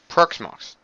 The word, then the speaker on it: Proxmox: pronounced P oh let me get website it's pronounced as follows PRX Mox proxmox and what proxmox is is a a virtualization